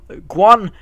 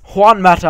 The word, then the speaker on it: Juan Mata: we do inquire from guan i've said it wrong again haven't i it's juan mata apparently to guitar circle